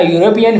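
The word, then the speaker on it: European: यूरोपियन की pronunciation consonant sound यानी Y sound से शुरू होती है।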